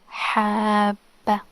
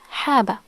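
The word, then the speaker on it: حَبَّة: If there was no shadda, by the way, if it was only fatha, it would be haba. Notice the difference. Haba. The ba is pronounced only one time, but with shadda it's habba. Habba. Habba. The ba is doubled.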